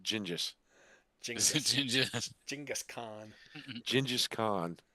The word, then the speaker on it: Genghis: Of course, everybody in some way is related to the King of England or Genghis Khan. No, it's pronounced Gingis.